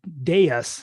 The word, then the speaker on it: Deus: and 20% of their coin Deuce, or Deus is how you say that one, but it's also over collateralized and backed by a debt position.